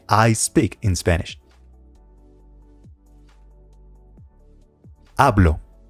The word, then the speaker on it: hablo: I speak in Spanish hablo remember the age is completely silent how do you say